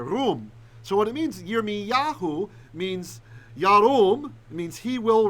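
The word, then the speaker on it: ירמיהו: Someone said literally my name, but I meant, how do you say in Hebrew? Zakar. No, I know. Remember. It's right up. Yirmiyahu. Yeah. Yeah, or Yirmiyah, both ways.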